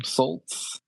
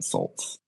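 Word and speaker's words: Sult: Like Tim Saltz, I think is how you say his last name. Hmm. I think is Salt, not Saltz.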